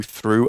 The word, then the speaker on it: through: Like you might go through a tunnel, which means you enter at one end and come out the other side.